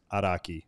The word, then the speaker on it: Araki: It's a cool last name, and the correct pronunciation is Araki for everyone out there.